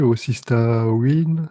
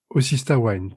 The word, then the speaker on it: Osystah Wyne: Bon alors, du coup, je dis Azel et Marie, Osista Win, c'est ça? C'est comme ça Osista qu'on Wine. prononce? Osista Wine, pardon.